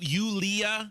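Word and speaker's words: Yulia: doesn't she it's never like Sarah it's it's Julia yeah okay that's not Sarah right not Sarah but it's Julia Jane right you ulia ulia ulia yeah that sounds like kind of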